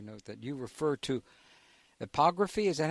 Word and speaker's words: epigraphy: Well, in addition to archaeoastronomy, you note that you refer to epigraphy. Is that how you pronounce it, or epigraphy?